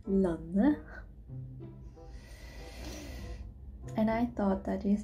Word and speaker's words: landet: Lanne. See, you don't pronounce the D and the letter T, so it just becomes Lanne.